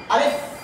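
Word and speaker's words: ألف: দেখেন আমি এই অর্থটি কিভাবে উচ্চারণ করে, আমি একবার বলার পরে আপনারা একত্রে একবার বলবেন। আলিফ আলিফ আলিফ আলিফ আলিফ আলিফ আলিফ।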